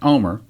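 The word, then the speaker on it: Olmert: Headline, Omer, O-L-M-E-R-T, again, it's pronounced Omer.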